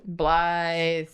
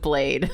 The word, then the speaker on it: Blaidd: Speaker: Blaidd. It's got two Ds but it's pronounced like blithe. Speaker: Okay, I wasn't sure. Speaker: It's like Welsh or whatever. Speaker: I just knew it wasn't blade.